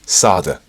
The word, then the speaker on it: solder: wire back in and resolder yes I know in some parts of the world it's pronounced Sada it's orinal thing like a tomato potato I'll also slip some